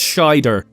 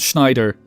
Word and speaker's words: Scheider: mispronounced Roy's name sorry it's Scheider Roy Scheider not Schneider I have thinking of